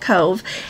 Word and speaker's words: Cobh: are going to talk about our stop in Cove Ireland c o BH is how they spell it but when you pronounce it there they can pronounced it Cove and on the itinerary it says that c